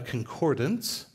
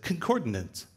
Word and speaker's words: concordance: And he has a concordance. For years as a kid, I said, concordance.